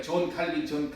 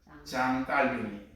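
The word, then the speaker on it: Jean Calvin: 장로교의 창시자 장 칼빈, 우리 영어로 발음하다 보니까 존 칼빈 이렇게 익숙해져 있는데, 그럼 프랑스 사람이거든요, 그분이. 그러면 프랑스 사람 이름을 프랑스 말로 불러줘야 맞는 겁니까? 영어로 불러줘야지 맞는 겁니까? 그 영어로 발음하면 존 칼빈이지만 프랑스어 이름으로는 장 깔뱅이.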